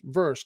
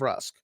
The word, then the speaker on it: Vrusk: clearly he's from triad he says versk instead of rusk like everybody else so i i think